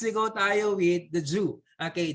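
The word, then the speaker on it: jus: go dial with the jew okay jew this is the j-u-s but you pronounce it jew okay zoo is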